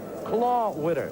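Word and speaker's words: Klawitter: and on the mound the rookie left-hander Tom claw Witter it is spelled k k l AI W TT KL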